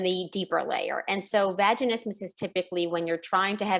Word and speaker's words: vaginismus: One of the things we were talking about in the break that we're going to get right into is vaginismus.